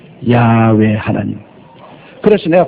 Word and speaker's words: 야훼: 여러분 하나님 성함도 여호와라는 것은 이것은 미국 영어식 발음입니다. 미국 영어식 발음. 제호바, 여호와. 그러나 원래 하나님이란 히브리 원어는 우리가 늘 말하는 야훼입니다. 야훼 하나님.